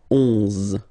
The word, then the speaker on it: onze: So O plus N give you the sound on, onze, onze, okay? Final E doesn't exist phonetically, onze, okay?